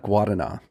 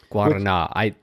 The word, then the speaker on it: Guaraná: And I'm celebrating today with a can of Guaraná. Guaraná. I would not. Guaraná is the best. Have pronounced it that way at all.